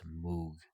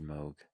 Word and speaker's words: Moog: may read it and be like oh that's Moog no no it's pronounced Moog yeah I don't know English doesn't English sometimes